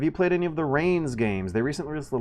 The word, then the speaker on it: Reigns: It rhymes. I also got to clarify that it's not spelled the way it sounds. Rains as in rain you put on a horse instead of a rain that you try to rush indoors